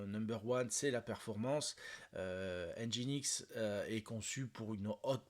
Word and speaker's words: Nginx: à NGX alors alors normalement on doit le prononcer engine x hein donc lui aussi